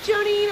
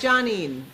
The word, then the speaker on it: Johnine: And the last time I was like, "It's" She's like, "Hi, Jonine." I'm like, "It's Johnine."